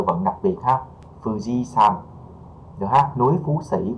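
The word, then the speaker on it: 山: Âm Hán thì sơn ha, mình chuyển qua nó sẽ hơi giống một tí, mình sẽ không đọc là son mà mình sẽ đọc là san ha các bạn.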